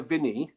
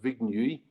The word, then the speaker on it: Vigny: And he brought over a man called Pierre Vigny, or I think the name is correctly pronounced Vignuy, Pierre Vignuy from France to teach walking stick self-defense.